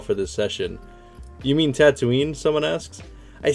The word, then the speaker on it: Tatooine: a tatooine he says he pronounces it as tatuni not tattooing any between this uh you pronounce it as a tatuni not tatooine and between this and not